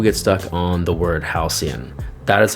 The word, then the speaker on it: Halcyon: lot of people get stuck on the word Halcyon that is how it's pronounced Halcyon and it means a time in the past